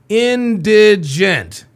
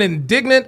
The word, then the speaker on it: indigent: Say it with me. Indigent. Indigent. I've heard indignant. I've heard indigenous. It is indigent.